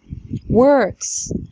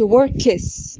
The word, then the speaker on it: works: works ما نقولش workes، محدش يقول workes خالص لان مفيش هنا فاصله او مفيش حرف متحرك يفصل الكي والاس.